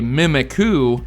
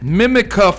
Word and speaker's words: Mimikyu: of my word so for all those who hate how I say mimiku here is the top comments correction mimika I couldn't find the